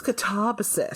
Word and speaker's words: Katabasis: apparently people told her no, it's Katabasis. So yeah, it's Greek, as producer Rob lets us know, and no, I refuse.